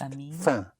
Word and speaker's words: faim: Hunger in French is a tiny little bit of famine, which is pronounced faim. Faim. Spelled F-A-I-M, but you don't even sound the M.